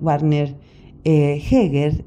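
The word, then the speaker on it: Werner Jaeger: del grandísimo filólogo alemán bana yiga pronunciado en español Warner heger y quien dice en el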